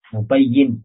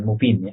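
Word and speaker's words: مُبَيِّن: Mubayyin, menjelaskan. Menjelaskan. Bacanya mubayyin, bukan mubin.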